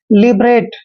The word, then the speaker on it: liberate: एल का उच्चारण हम ले करते हैं, आई को छोटी की मात्रा पढ़ते हैं, और बी को हमने बै पढ़ना है, लिब। देखिए यहाँ पर आर को रे पढ़ते हैं, ए को ए की मात्रा, और TE का उच्चारण टे करते हैं, लिबरेट।